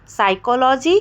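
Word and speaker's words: psychology: एस के पहले पी आ जाए तो पी साइलेंट हो जाएगा साइकोलॉजी जी साइकेट्रिक और साइकोथेरेपी मैंने एग्जांपल दिया अगर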